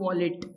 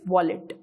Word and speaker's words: wallet: नाउ one more thing, see this word वॉलेट। नाउ सी the pronunciation, this is not violet, this is नॉट वॉलेट, this is wallet, this is wallet.